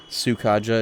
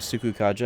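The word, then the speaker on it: Sukukaja: I used to say sukaja instead of suku kaja.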